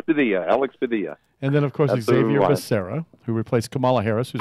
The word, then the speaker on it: Xavier: and then of course Xavier Serra who replaced Kamala Harris in final unison and and and he pronounces it Javier Javier it's the X the X is a J in Spanish yeah Javier how they